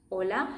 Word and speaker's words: hola: Okay, that word should have been pronounced like this. Hola. Oh. Hola. The most common mistake is for people to go with hola. Hola. Yeah? Don't bring your English into the thinking.